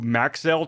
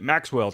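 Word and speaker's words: Maxell: word it was, but I always go back to Maxel tapes for 20 years. I called it Maxwell tapes and that one monary.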